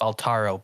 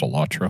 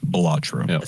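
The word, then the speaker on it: Balatro: winners of these categories alaro best indie game I haven't played these games you keep saying it wrong it's batro by the way as goofy as it is say batro so they gave Final Fantasy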